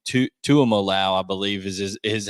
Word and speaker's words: Tuimoloau: and I'm going to butcher his last name, Tuimoloau, I believe is how you pronounce his last name.